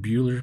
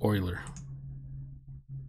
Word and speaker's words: Euler: It's called I used to say Project Bueller, but it's actually pronounced Euler.